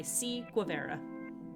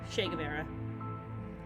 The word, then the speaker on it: Che Guevara: your government is broken by C guavera uh uh yeah shagar era I think I write his last name wrong because I was thinking listen my brain's not working Che Guevara I said it right that third time anyway uh Professor Theodore